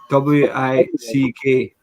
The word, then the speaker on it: Wick: W-I-C-K. It's W-I-C-K. It's Wick, like candle wick.